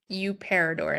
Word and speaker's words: Paridor: So, my last name, I know tricky to pronounce, but uh it's Paridor and it's a Thai last name.